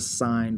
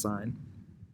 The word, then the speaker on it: sine: function is called the sine function on your calculator they take the e off it's not sin is actually pronounced sine sine of an angle